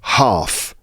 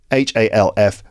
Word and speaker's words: half: f o l k folk and the word half half quarter eth uh half h a LF but pronounced half okay let's move on I've got